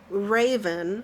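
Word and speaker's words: Reighven: There's this guy named Raven, but it's spelled funny.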